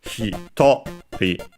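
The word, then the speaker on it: ひとり: Yes, it's hitori on the to, just like for hitotsu, one of a general purpose counter.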